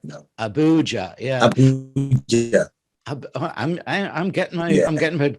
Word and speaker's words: Abuja: Abuja right now. Abuja, yeah. Abuja. I'm getting my pronunciation right.